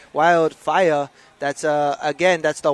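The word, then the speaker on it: whai: riger te yeah so that wh EA that you see up there under New Zealand that's pronounced fire fire means atie and these anties are on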